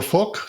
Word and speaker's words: Phuc: We charitably call her Phuc. That's how it's supposed to be pronounced, and don't try to pronounce it differently.